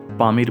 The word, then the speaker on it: Pamir: সবচেয়ে উঁচু মালভূমির নাম পামির মালভূমি স্থানীয় ভাষায় এর উচ্চারণ হচ্ছে পমির যার অর্থ সূর্যের